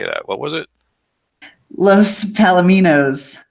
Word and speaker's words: Los Palominos: Los Palominos. That's it. All right, thank you. Los Palominos. I got to remember my Spanish pronunciation.